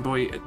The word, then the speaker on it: buoy: weak distorted signal emergency boy is just a paramedic yeah just to pronounce boy yeah that's what I figured yeah I I think in this country we call it boy and I I keep